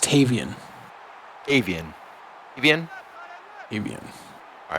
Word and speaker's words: Tavian: And Rodriguez actually saying that it's pronounced Tavian.